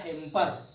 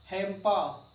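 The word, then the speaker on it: hamper: इसका right pronunciation होता है हेम्पा। लोग बोलचाल की भाषा में इसको हम हेम्पर रे बोलते थे, जबकि एक्चुअली में रे प्रोनाउंशिएट नहीं होता है, इसलिए इसको क्या बोला जाता है, हेम्पा।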